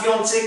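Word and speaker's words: fiancée: आप देखेंगे गौर से लास्ट का ई साइलेंट है। तो स्पेलिंग का दोनों का डिफरेंस होने के बाद भी इसको हम ल फियांसे बोल रहे हैं, मंगेतर जो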